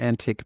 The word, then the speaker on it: Antic: I just discovered his we need to pronounce his name Jason antique by the way so even though I've been butchering it for the last few years so yes okay